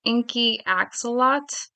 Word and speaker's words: Inky Axolotl: hard to pronounce, but the way she broke it out in hyphens is Inky Axolot. I'm not really sure what to do with the last L in there. Maybe it's Inky Axolotl.